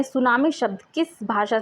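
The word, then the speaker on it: tsunami: तो सुनामी शब्द हमारे जापानी शब्द से लिया गया है। जापानी। शब्द को सुनामी इस तरीके से, टी इसके आगे जो होता है वो साइलेंट होता है।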